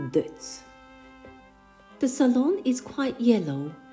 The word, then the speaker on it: Deutz: Augsburg Germany in 1838 in German it's called Deutsch but in French it's called Deutz the salon is quite